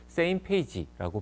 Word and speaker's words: SMPAG: 조직을 바로 첫 번째는 smpag same 페이지라고 발음을 하는데요 각국의 우주청들의 국장들이나 대표들이